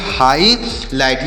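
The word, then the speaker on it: highlight: प्यारे बच्चों इसे पढ़ेंगे हाई लाइट एच आई से पढ़ेंगे हाई और यहां पर जी ए साइलेंट है एल आई से पढ़ेंगे लाई और जी से टॉ पढ़ेंगे तो इसे पढ़ेंगे हाईलाइट हाईलाइट मतलब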